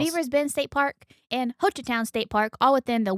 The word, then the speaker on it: Hochatown: Hochatown is how I pronounce it.